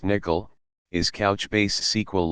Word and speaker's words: N1QL: 5.1 Introduction to N1QL N1QL pronounced nickel is couchbased SQL like query language It allows you to query JSo documents using familiar SQL syntax.